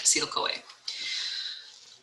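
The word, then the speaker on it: acetyl-CoA: molecule called acetyl coa it says coenzyme a nobody calls it that it's called acetyl coa sometimes there's a hyphen okay that's how you say it acetyl coa that was a lot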